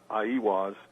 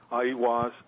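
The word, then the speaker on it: Aiwass: Well, I think the Book of the Law, which Crowley supposedly wrote through automatic writing, Crowley attributed to, I believe the way it's pronounced is Aiwas.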